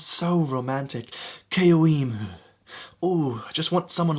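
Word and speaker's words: Caoimhe: Keoimu.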